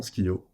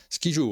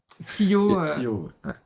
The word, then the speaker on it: Skyjo: C'est évidemment Skio. Voilà. Skijo, on dit à Rambouillet. Skio, Alexander Bernhardt, dans sa VO langue originale, Skio. Et on autorise toutes les prononciations.